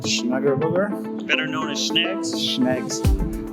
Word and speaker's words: Schnegelberger: David Schnegelberger, Schnegelberger.